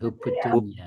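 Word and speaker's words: حب الدنيا: Hubud dunya. Hubunya bacanya hubud dunia kayak ee ya hubud dunya.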